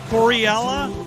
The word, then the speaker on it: coreILLA: think something's AI ask it how do you pronounce Gilla going be K yeah Corella all right guys thank you guys so much